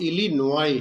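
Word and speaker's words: Illinois: वर्ग इन ऑयल कि यह इलिनॉय की स्पेलिंग लिखी हुई है आई double S आई एन ओ आई ऐ एस टी ई एम नॉट इज लिखी हुई लेकिन इसका जो प्रनंसीएशन है वह इलिनॉय किया जाता है 84 लें वॉन्टिड टूट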